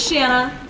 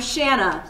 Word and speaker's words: Shanna: so let's go so my name is shanna and the only word in the english language that anybody can remember it rhyming with is banana um i have had to basically in every class that i've ever had tell the teacher hi i'm shanna like banana but spelled different obviously and they know